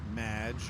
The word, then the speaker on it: Madge: It's Madge, which rhymes with badge.